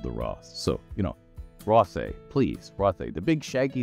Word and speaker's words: Rothé: gone away or not, you pronounce it as if it were French, as if the accent was there. Rothé.